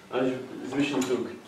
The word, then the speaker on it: Zwischenzug: Zwischenzug. That's the correct pronunciation, isn't it?